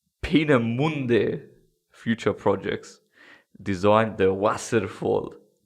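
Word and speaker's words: Peenemünde: a red hot go pina muende pina munna it's got the two dots on the u pina mundi future projects designed the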